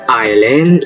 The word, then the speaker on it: island: And in S is island.